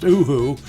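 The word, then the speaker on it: UHU: oooo glue or yeah I think it's pronounced oooo it's supposed to be the sound of an owl anyway it's a German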